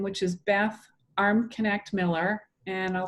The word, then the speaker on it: Armknecht: is using my full name which is beth armconnect miller and i'll spell that it's a-r-m-k-n-e-c-h-t so beth arm connect miller